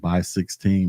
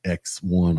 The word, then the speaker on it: x1: And this comes in different sizes like by 1, by 4, by 8, and by 16. That's exactly how you pronounce it. It's by 1, not X1 or anything like that.